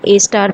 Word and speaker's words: A*: इसे हम ए स्टार pronounce करते हैं.